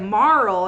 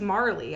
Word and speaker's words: Marle: So, and that's been kind of a Always pronounced it without the E, and then 20 years later, Final Fantasy VII Remake confirmed that I was correct.